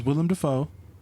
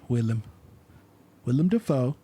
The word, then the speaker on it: Willem Dafoe: This is Willem Dafoe. And I said it right, bitches. Willem Dafoe and Batman.